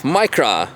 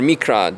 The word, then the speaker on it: Micra: Anyway, we have Micra or Mikra, depends which country or language pronunciation you're coming from.